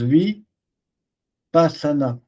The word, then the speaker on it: vipassana: Tu comme ça se prononce vie pasana.